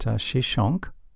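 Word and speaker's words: Shoshenq: Another major military conflict involved Pharaoh Shishak, whose name is pronounced Shishonk, in the 10th century BC.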